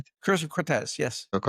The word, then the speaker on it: Cortez: cause of CI both draw from Am I pronouncing it well? It's the curse of Cy, right? Curse of Cortez.